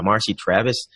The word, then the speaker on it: Marcy Travis: have a very special guest her name is Marcy Travis is that is that did I pronounce that right mr.